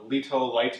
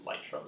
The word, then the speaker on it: Lytro: There are things out there like the Lito, I'm not sure how I pronounce it, but it's Lytro.